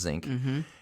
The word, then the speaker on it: Szink: my last name is zinc it's pronounced zinc it's spelled differently but it's pronounced zinc and when you add